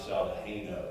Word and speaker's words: Saldajeno: And it's pronounced Dr. Saldajeno, is that correct, sir?